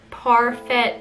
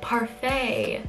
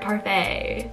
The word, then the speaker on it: Parfait: kept saying like Premiere parfet chunky but apparently you pronounce it Premiere parfait chunky so like the dessert parfait and after they said